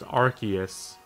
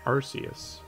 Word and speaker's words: Arceus: Or apparently it's pronounced Arceus, but I don't much care for that pronunciation. So I'm just gonna keep pronouncing it Arceus. The hard C on Arceus sounds bad.